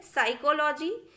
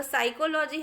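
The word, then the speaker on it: psychology: देखिए PS के combination में साइकोलॉजी, तो साइकोलॉजी हमने कहा लेकिन P नहीं कहा हमने।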